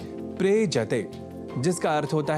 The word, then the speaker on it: प्रेजति: क्रिया का शब्द है प्रेजति जिसका अर्थ होता है कांपता है। यहां प्र उपसर्ग के साथ एज्री इस कंपन परख अर्थ वाले परस्मय पदी धातु का प्रयोग है। दोनों के मेल से शब्द बनता है प्रेजति। प्रयजति नहीं।